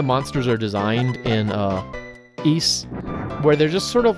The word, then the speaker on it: Ys: is oh gosh uh East is the way that you're supposed to pronounce that that's how they say it in the game um I used to say wise but it's apparently supposed to be used anyway in that